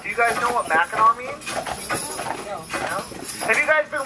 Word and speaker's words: Mackinac: take this with you regardless of how you see the word spelling it is always pronounced background trust me folks do not ever say the word smacknack you say mackinac it makes you sound